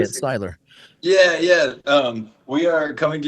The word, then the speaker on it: Seiler: Styler.